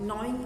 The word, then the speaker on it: gnaw: Knowing आप समझते हैं कि it's called GNAW. Pronunciation is नॉ.